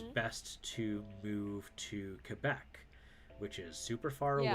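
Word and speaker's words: Québec: The French pronunciation is Quebec.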